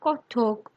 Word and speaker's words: কথক: নটুয়ার পরে উঠিল কথক। এখানকার উচ্চারণে কত্থক।